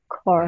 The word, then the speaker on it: Kaur: Kaur. Right. Like C-O-R-E, Kaur.